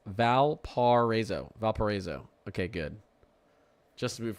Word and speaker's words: Valparaiso: Okay, Valparaiso is pronounced Valparaiso.